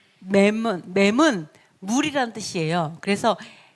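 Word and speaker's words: מם: 자, 맴을 보시면 40번이고 미음 발음 M 발음이고요.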